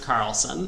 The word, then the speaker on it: Charlson: Carlson charlon is pronounced Carlson thank you I's see the H is silent and the C is a k yeah well yes charlson is good though right